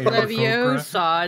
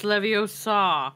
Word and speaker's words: Leviosa: Not Leviosa, it's Leviosa. Leviosa.